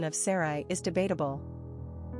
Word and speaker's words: Sarai: The pronunciation of Sarai is debatable. Some say S-E-R-I-E and some say S-O-R-I-E.